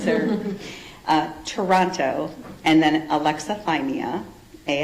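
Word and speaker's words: alexithymia: It's Can you really spell that? Yes sir. Uh Toronto and then aleximeia a l e x i t h y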